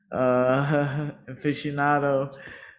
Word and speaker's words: aficionado: Aficionado.